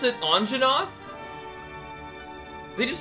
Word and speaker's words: Anjanath: trying to look to you didn't they just pronounce it anjanath they just said it correctly and they didn't